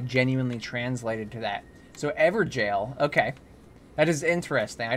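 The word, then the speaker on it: Evergaol: Oh, it's actually pronounced Everjail. Is the old way to spell jail.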